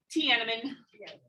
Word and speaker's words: Tiananmen: Tiananmen.